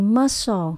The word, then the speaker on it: muscle: sun mình có từ muscle có nghĩa là bắp thịt hoặc là cơ bắp chúng ta nhấn âm đầu tiên là must âm số hai s muscle discip có nghĩa